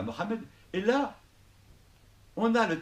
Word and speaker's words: Mohammed: un peu à Mohammed, Mohammed, excusez-moi, je préfère le dire, le prononcer à l'arabe quand même, c'est mieux. Donc, on arrive à Mohammed, et là, on a